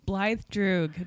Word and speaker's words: Blaidd: can't say it yep blly duoo just call me okay there you go yeah there you go it's Welsh okay yep yep I